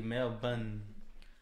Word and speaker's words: Melbourne: yeah but it's actually Mel bun how you pronounce it oh what I thought it was Melbourne no Melbourne that's the all Australian way to say it Melbourne Melbourne I thought